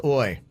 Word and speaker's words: hoy: Hoy. I do know what this is. Hoy is It's Hoy, but I think it's pronounced Oi.